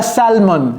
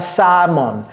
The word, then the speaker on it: salmon: ces choses là Sam ne prononcez jamais le L et ne dites pas samon non c'est Sam Sam je vais mettre shrimp